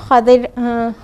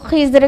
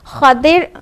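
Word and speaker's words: Khadir: तो खदिर अलैहिस्सलाम थे, खिज़र कहते हैं और कई प्रोनाउंसिएशन हैं, लेकिन जो बेस्ट है, जो ज़्यादा सही है वो खदिर है। ठीक है, खदिर, खा पर फतहा और दाद पर कसरा और रा साकिन। ठीक है, खदिर है।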